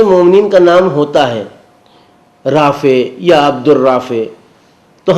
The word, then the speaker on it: رافع: یا عبد الرافع، تو ہم لوگ اسے پکارتے کیا ہیں؟ رافع، یعنی فے اور بڑی یہ، جبکہ یہ صحیح تلفظ نہیں، رافع، فے کے بعد عین ہے جسے پورے طریقے سے ادا ہونا چاہیے، رافع، رفعت دینے والا،